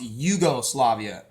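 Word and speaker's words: Jugoslavia: letter Iota in Greek many European languages pronounce j as the letter i or a y sound a yeah yeah they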